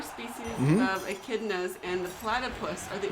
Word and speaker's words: echidna: oh, it's pronounced echidna.